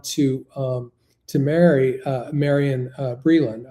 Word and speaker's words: Marian: um to marry uh Marian Breeland. I think I I mispronounced her name a moment ago. Her name was Marian to to marry Marian Breeland.